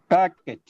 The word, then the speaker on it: packet: Packet. Packet. Packet. Packet. It's not packet. It's not packet. It is okay. Packet. Packet. Packet. The sound is pa is stressed. That's why the next syllable becomes big.